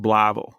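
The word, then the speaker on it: Blytheville: They had met when he was in the Air Force in this town called Bllyville, Arkansas. It's pronounced Blavl if you're from there.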